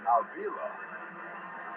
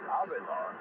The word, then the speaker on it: Avila: In the 50s, Cleveland had a big-time second baseman named Bobby Avila. That's the way it was pronounced in English. Actually, it's pronounced Avila because there's a private home area, private called Avila.